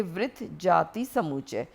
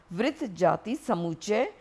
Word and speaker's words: वृत्त जाति समुच्चय: इसे छोटे-छोटे हिस्सों में बांटकर पढ़ें। वृत्त जाति समुच्चय, वृत्त जाति समुच्चय, 7वीं शताब्दी ई.पू.